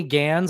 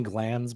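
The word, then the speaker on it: Gantz: but um uh Benny Gans I always want to say Benny glands but that's the head of the penis it's spelled the same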